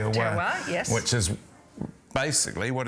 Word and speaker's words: terroir: That's right, terroir, yes.